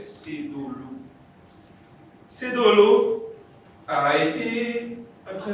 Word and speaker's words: Sedolo: Et chez les Minans, on ne dit pas Cédolo, on dit Cédolo. Donc la bonne prononciation de son prénom, c'est Cédolo.